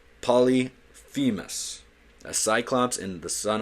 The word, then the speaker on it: Polyphemus: Polyphemus. It's hard for me to pronounce, but I know how to pronounce it. Cut me some slack, gang. Polyphemus.